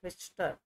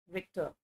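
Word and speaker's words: Richter: वाज the first आएगा, यस रिक्टर, विक्टर I think है ना, रिक्टर इज the correct pronunciation है, रिक्टर राइट।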